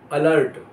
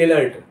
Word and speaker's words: alert: जैसे ALERT, अलर्ट। ALERT, अलर्ट, ना कि एलर्ट, अलर्ट।